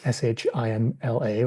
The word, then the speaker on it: Shimla: I'm going to you for that one, Preg, Shimla, or in the book it's Simla. I'd say it's SH, and normally how it's pronounced.